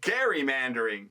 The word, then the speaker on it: gerrymandering: out with a hard G, making it gerrymandering. And yes, I knew that, but at the end of writing this, but for the sake of that being a dramatic reveal, I just kept a soft G until then. Going forward, we shall say Gary.